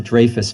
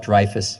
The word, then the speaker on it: Dreyfus: was very impressed that you pronounced it draus Foundation which of course it is even though some people might incorrectly call it dfus Foundation I'm well aware of